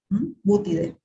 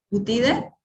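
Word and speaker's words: Buthidae: Todas las familias, cuando ustedes lo nombran, tienen esta terminación, dae, ¿sí? Y se pronuncia, o sea, al pronunciar se anula la pronunciación de la A, Butide. Butide, Boteriuridae, ¿sí?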